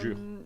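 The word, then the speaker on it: Jyeuhair: Alors ça s'écrit J-Y-E-U-H-A-I-R, pas J-U-R. Voilà. Jure.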